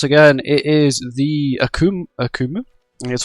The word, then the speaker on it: Akumu: n boss once again it is the akum akumu that's how you can pronounce it and today's challenges for hell of